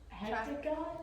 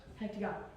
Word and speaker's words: hexagon: If it's got 6, Hectagon. did you say hectagon? Is it wrong? That's wrong. What? You're close. Yes, 8. Hexagon. Hexagon.